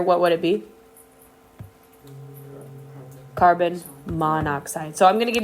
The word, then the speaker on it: monoxide: over the a so that's why it's not called Mono oxide right it's called monoxide and it's really just